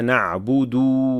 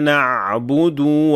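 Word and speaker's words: نعبد: Other learners replace the dhamma with sukun here as well. Iyyaka na'bud wa iyyaka nasta'in. So here we have sukun on the dal, and this is of course a major mistake.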